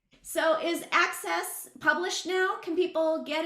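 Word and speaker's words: ACSES: that's your access yep all I can see is the uh the acronym a-c-s-e-s yes access not Aces sorry I know exactly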